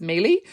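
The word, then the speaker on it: Meili: I think it's pronounced Mealy.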